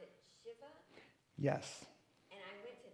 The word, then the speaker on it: shiva: And so I was honored to go to, you pronounce it Shiva?